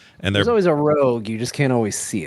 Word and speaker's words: ROG: I think it's rogue.